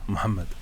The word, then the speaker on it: 무함마드: 네, 정확하게 무함마드입니다. 무함마드. 예, 무함마드인데 이게 H 발음이 우리한테 없는 발음인데요. 무함마드고요. 마호멧은 잘 안 쓰는 표현이에요.